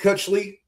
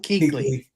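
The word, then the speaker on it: Kuechly: You've got Luke Kutchley. I think that's how you say his name. I'm really terrible about it. Keley. Luke Keequley. Luke Keequley who uh played for Carolina Panthers, right?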